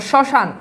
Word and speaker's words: শ্মশান: এখানে আছে দেখো স্মরণে কি কোথাও ম ফলার উচ্চারণ আছে নাই এরপর দেখো শ্মশান দেখো এখানেও তো ম ফালা আছে কিন্তু ম